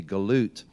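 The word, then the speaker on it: גלות: the Galatia, the Galatians, in Hebrew the word Galatian would be pronounced or be spelled with a gimel lamed and a tav, and it would be galut, and galut in Hebrew means exiles.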